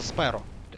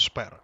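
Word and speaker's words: Szpero: Ну, то есть, если читать Шпера по-английски, у вас Шпера никак не получится. Получится Сперо. Сзперо. Вот. А по-польски читается Шпера.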